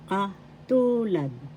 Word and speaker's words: katulad: First syllable ka, second syllable tu, third syllable lad. The second syllable has the accent. Katulad.